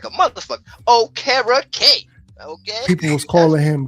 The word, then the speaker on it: Okereke: Okereke. I can say it like a motherfucker. Okereke.